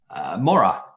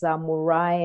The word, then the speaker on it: Moraa: It's a real pleasure to welcome today's show the founder and CEO of Pezesha, Hilda Moraa. Sorry, Hilda. I just had to check the name there, and I hope I've pronounced that right.